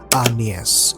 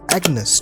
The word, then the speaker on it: Agnes: It is rightly pronounced anas with time and it is Agnes today.